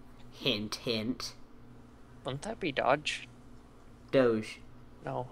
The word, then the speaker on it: Doge: the crappy bits okay it would be pronounced dodge can't you english bro we ain't french wait you're not the